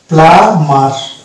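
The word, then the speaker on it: plumber: তাহলে এই শব্দটার অ্যাকচুয়াল প্রনাউন্সিয়েশন হবে প্লামার। এই বিটা অনুচ্চারিত থেকে যাবে, এই বিটা সাইলেন্ট হয়ে যাবে।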